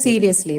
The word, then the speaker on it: seriously: first syllable first syllable How about seriously the next word seriously again so whenever you have adverbs definitely the stress is on the first first syllable right so suddenly he